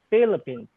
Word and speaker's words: Philippines: It starts with letter P and H. Philippines. You pronounce F.